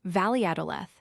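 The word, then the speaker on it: Valladolid: As for the place we're going to next, Viadalid, I pronounced it as a Spaniard does. Valadth.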